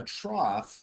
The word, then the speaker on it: trough: right and then a trough all right so that's pronounced almost like this like t-r-o-f-f right we say trough right so think of the word cough it is the minimum